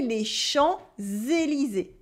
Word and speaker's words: Champs-Élysées: We also have a silent P. We don't say les champs. We say les champs, les champs, les champs. The P is silent. And at the end of Élysée, E, S are silent as well.